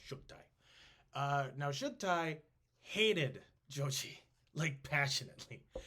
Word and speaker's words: Chagatai: Chagati is how we usually pronounce it. Chagatai. But I believe it's pronounced Shugtai.